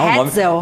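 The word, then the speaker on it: Ratzel: É Hatzel. um nome alemão, gente.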